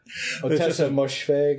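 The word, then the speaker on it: Ottessa Moshfegh: Otessa Moshfegh. Is that her name? Otessa Moshfegh? Yeah, I've heard it pronounced, and that sounds close.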